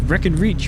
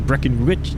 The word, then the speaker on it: Brackenreach: The Witches of Brackenreach, or Brackenreach, depending on kind of how you want to say it or pronounce it, as the exterior camera